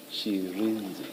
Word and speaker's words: Shirindzi: Sherenzi. Thank you. Can you please say it again so that we get it right? Sherenzi? Sherenzi. Sherenzi, Chairperson, Sherenzi. She, yes. Sherenzi. She, Re, and then Nzi. Sherenzi.